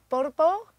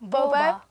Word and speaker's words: BoBa: Now, this band is called Borbo. Is that how you say it? Boba. Boba. Boba.